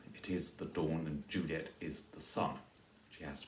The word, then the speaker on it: Juliet: true and faithful Juliet she has to be three syllables there for the rhyme to work sure so Juliet three syllables Capulet replies as rich